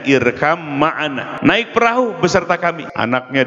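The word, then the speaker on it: ارْكَبْ مَعَنَا: Irkam ma'ana, asalnya irkab ma'ana, dibacanya irkam ma'ana, naik perahu beserta kami.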